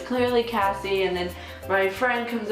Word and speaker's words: Cassie: go, representing Interact Club, Casey. And I was like, ha. If you don't know, my name's Cassie, and it's spelled C-A-S-S-I-E, like the singer.